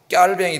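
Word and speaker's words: Calvin: 칼빈은 이제 영어식 발음이고 프랑스식으로 발음하면 깔뱅이 됩니다. 깔뱅. 그래서 요새 칼뱅이라고 안 그래. 무식하다. 그래. 깔뱅이라 그래요.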